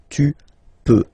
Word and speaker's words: peux: Okay, then tu peux. Same pronunciation and same spelling or writing. Okay, P-E-U-X. Okay, you don't pronounce the final X. Tu peux.